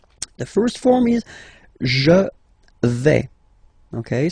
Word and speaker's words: vais: The first form is je vais. Okay, so remember, final S not pronounced here. Je vais. Okay, when you combine this AI, you get the sound E, really open.